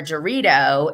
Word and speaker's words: Dorit: I was told that I was like forever calling her Dorito and Dorit. And then I found out that it's like this Hebrew name, and someone said that I should pronounce it that way.